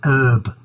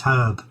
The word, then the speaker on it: herb: Pate for instance uh why do they say herb that really annoys me it's herb it's a herb it's not an herb everything else is bloody